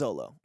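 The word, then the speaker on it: Xolo: say it Zolo yeah I think it's Zolo x-o-l-o so I don't know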